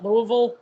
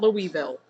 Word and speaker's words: Louisville: for proper pronunciation purposes it's uh Louisville not Louisville I'm so nervous for